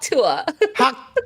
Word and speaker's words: Tuah: It's Tuah.